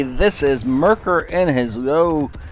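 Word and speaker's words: Löwe: is Mercker and his low it's a tier 8 game on fiery salient and this is a tier 8 German heavy tank below missing are the larvae if you really want pronounce it correctly this thing has been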